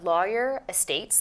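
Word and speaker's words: Lawer Estates: kind of unusual it's called Uh lawyer Estates like the profession it's spelled l a wer and uh the Ros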